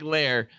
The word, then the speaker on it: Lar: You can call me Lar, or Lair, short for Larry, pronounced like Lair.